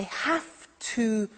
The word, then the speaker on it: have to: so an example I have to use a computer at work now did you hear my pronunciation I have to notice I don't say V I say f have have it becomes